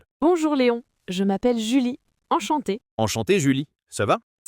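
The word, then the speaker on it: enchantée: Si vous êtes une femme comme moi, vous dites enchanté. La prononciation est la même, mais on ajoute un e à l'écrit.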